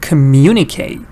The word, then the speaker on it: communicate: All the ings that you add doesn't change the stress. For example, if you pronounce the word communicate, just because you add ing, nothing changes. Again, you have to say communicating. And you have to go